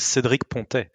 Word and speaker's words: Cédric Pontet: My pronunciation is not if you want the French accent, it's Cédric Pontet.